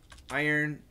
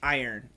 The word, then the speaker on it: iron: way I'll give you the easy way the pronunciation is this iron there's a trick I earn and just say it fast iron iron iron iron and just remember earn earn